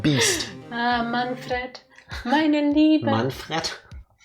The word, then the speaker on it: Manfred: Manfred? Manfred. You will learn how to pronounce German names in this video.